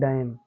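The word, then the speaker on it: damn: तो इसको पढ़ेंगे AUTUM आटम, फिर COLUM कॉलम, फिर DAM डैम।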